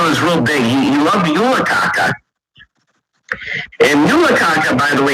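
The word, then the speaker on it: julekake: Back in the day, yeah, it's Yulakaka, yeah, but it's spelled K-A-K-A-K-E. So there you go.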